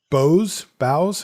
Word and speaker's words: boughs: Sheltering Boughs? How do you say that again? Boughs of a tree? Boughs, right?